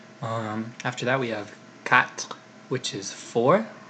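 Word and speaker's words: quatre: tois not not try after that we have cat which is four it's a cat flip protons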